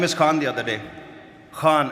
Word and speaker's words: Khan: Khan am I saying it right? Khan from the epiglotus.